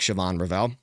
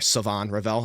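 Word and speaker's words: Shavon Revel: So, we see players like Siobhan Rall or Savon Rall, I'm sorry. Someone corrected me on that and I didn't know that's how you pronounce his name. I think it's Savon Rell.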